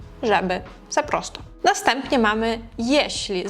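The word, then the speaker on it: jeśli: Наступні мами єшлі. Зверніть увагу на то, як ми його вимовляємо, щоб не плутати з єслі, тому що вимова інша. є шлі маємо всередині оце м'яке шліце мот якщо ти хочеш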